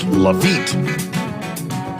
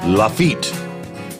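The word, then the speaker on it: Lafitte: fishey John sent me an email it is pronounced lafit lafit Louisiana fishey said it's name for the infamous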